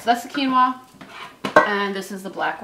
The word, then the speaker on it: quinoa: about 15 minutes now is quinoa ever pronounced Quinn Wawa no it's quinoa oh I think people